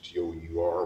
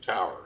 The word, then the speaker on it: tour: Now, in the oil fields is the only place that I know where you pronounce T-O-U-R, which we pronounce tour, is tower.